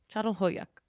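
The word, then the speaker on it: Çatalhöyük: so I'm going to look up how to pronounce it, at Châtelhuyuk. Fuck. Châtelhuyuk.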